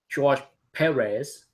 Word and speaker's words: George Perez: Perez, that's how he likes it to be pronounced. I wouldn't know it was him. Yeah, I think for those George Perez.